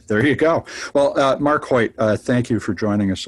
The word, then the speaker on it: Choyt: Well, Marc Choyt, thank you for joining us on the show.